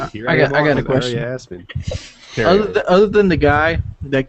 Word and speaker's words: Aria Aspen: Is it pronounced Aria Aspen? Yes. A-R-I-A?